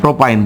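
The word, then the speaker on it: propyne: উচ্চারণগুলো ঠিক করতে হবে। প্রোপাইন প্রপ যোগ হচ্ছে আইন প্রোপাইন এখন যদি ধরেন হচ্ছে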